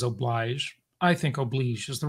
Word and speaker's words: oblige: The logic of noblesse oblige, he says oblige.